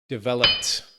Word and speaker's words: developed: Well, I know we have that P, right? Developed.